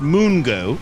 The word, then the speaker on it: Mungo: It's spelled Mungo. Oh! It's spelled Mungo, but it's pronounced Moongo. They call apparently, and also